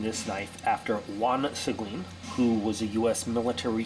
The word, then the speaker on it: Seguine: How do I know it's pronounced Seguine?